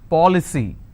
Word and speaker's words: policy: For example, policy. How many syllables? 3. Policy. Now here the rule says I need to stress on the third from right, which means I will stress on po.